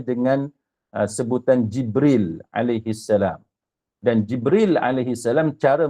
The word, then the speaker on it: Jibril: sebutan Jibril Alaihissalam kemudian ada juga di kalangan kaum Bani asad yang membacanya bukannya lam Jibril tapi dengan Nun jibrin dia menyebutnya dengan Jibril